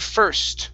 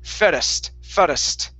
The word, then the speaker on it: first: nice very nice um here on the word first okay you were saying fairest okay adding an extra vowel sound after the r okay yes it is